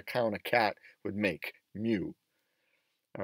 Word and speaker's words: mu: is the greek letter mu so i've included a pronunciation guide it kind of sounds like a combination between a cow and a cat mew or that what a